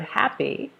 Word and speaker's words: happy: the first syllable so in the first word happy two syllables right you're going to stress the first one happy I'm so happy to